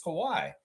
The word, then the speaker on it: Kawhi: David Saborin got it, even though he butchered his first name. It's Kawhi.